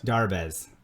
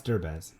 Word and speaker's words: Derbez: Darbez. No, it's Derbez. It's Derbez. D-E-R. Derbez.